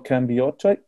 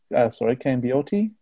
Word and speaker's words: Cambiotti: Danto D'Amico, Dino Leonetti, Frank Varola, Giorgio Cambiotti. Cambiotti. Oh, I pronounced that one. I pronounced that one wrong.